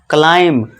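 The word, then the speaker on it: climb: देखिए एम के बाद बी है। तो यहां बी क्या है? जो यहां पे बी हमारा साइलेंट हो जाएगा। और इसे हम क्या पढ़ेंगे? क्लाइंब।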